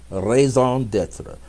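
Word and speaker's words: raison d'être: Because as the feelings get clear, the thoughts will get clear, and the purpose, your reason to be, raison d'etre, reason to be here in this moment.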